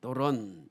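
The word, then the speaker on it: δῶρον: 선물이란 뜻이죠 선물 경외 감사 충성 헬라어로는 도론이라고 발음을 합니다 도론 이것은 선물이라는 뜻입니다 창세기 4장 3절부터 5절 보면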